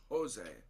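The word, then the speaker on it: José: j but like it's pronounced jose with an h a strong h sound too yes english bill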